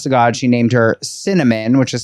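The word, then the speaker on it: Synamin: Honest to God, she named her Cinnamon, which is spelled s y n a m i n pronounced cinnamon.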